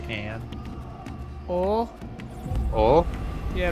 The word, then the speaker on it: og: Oh, Oh, yeah, but it's like OG. but it's pronounced oh. It's like oh. G is kind of like a little bit of an H.